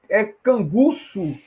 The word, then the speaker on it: canguçu: Canguço, né? É onça canguço e jaguar canguço, né? Canguçu que não tem acento. Olha como atrapalha, né? A pronúncia das palavras.